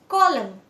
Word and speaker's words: column: The silent letter is N. N यहाँ पे silent है. So column.